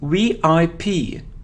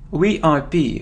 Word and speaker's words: VIP: it isn't VP it's VIP VIP for example he's a VIP person VI we pronounce it like three separate letters letters we P we